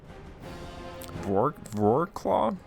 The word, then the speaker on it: Wrocław: Wrocław? Because I think the W is a V.